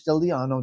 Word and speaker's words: Stigliano: This is Stigliano. The G is silent in Italian.